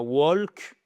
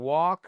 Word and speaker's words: walk: Pas walk. I can walk. Le ne se prononce pas.